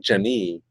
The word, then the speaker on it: Jene: it's spelled Jene, but it's like Jenny.